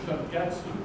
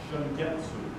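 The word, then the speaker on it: Shungetsu: And the cultivar name is Shingetsu, S-H-U-N-G-E-T-S-U. If you're wondering what that is, that's Japanese for spring moon. Long story about the name. Spell it again. S-H-U-N-G-E-T-S-U. Shingetsu.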